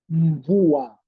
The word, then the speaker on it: mvua: You don't pronounce M as separate. You combine them.